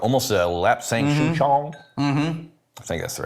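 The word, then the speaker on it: lapsang souchong: too but Smoky tea yeah like almost a lap sanction I think that's the right way I'm saying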